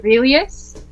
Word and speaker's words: Aurelius: Aurelius. Kind of rhymes with supercilious. So kind of close, but think of the whole Marcus Aurelius thing.